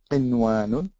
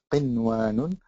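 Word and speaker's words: قنوان: So you just pronounce the noon clearly, as in qinwanun, qinwanun. And then you have sinwan, same rule, same kind of thing.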